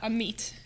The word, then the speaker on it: Amit: I would like to say my name's uh am meit am meit am me yeah wow well I'm